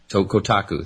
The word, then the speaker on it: Kotaku: Did I pronounce that right? Kotaku? I've never been there. Kotaku. Kotaku, thank you.